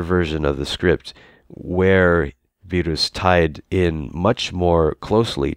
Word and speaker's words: Beerus: Well, that's because for one thing, in Japanese, it's pronounced Beerus. Right, well, there you go. But it's also based not on the English pronunciation, which is pretty much non-existent in Japan, but on the German pronunciation, Virus, so which was rendered in Japanese as Beerus.